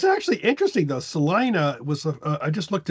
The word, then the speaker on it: Salina: a city in Kansas without the S on the end that you might think is pronounced Selena, but it is not. It is pronounced Salina.